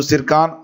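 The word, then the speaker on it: Tsirkon: पहला क्वेश्चन है देखिए सिरका हाइपरसोनिक क्रूज मिसाइल का संबंध किस देश से है यहां पर टी जो है साइलेंट है याद रखिएगा इसको लिखा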